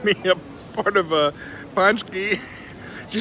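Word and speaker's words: pączki: Ponsky I'm a little embarrassed I've been uh pronouncing these things wrong I've been calling them poochkis but I was informed that they're actually called punch keys in Polish so I've been saying looks like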